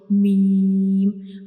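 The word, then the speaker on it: م: When we pronounce meme, we will read it from the dry part of both of lips, like meme.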